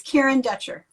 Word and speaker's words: Kieren Dutcher: It's Kieren Dutcher.